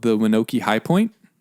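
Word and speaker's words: Wyanokie: state it's called The winoki High Point linoki winoki how do you spell that I'll tell you in a second W or L it's w winoki High Point w-y-a-n-o-k-i-e John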